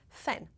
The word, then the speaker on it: fan: Fan. Mais uma vez, uma diferença de pronúncia bem importante, porque em francês o A é bem aberto, fan.